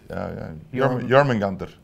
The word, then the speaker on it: Jormungandr: How do I pronounce that properly? Jormungandr.